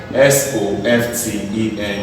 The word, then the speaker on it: soften: Certain words like this, T is silent. This is called often. S-O-F-T-E-N is called soften.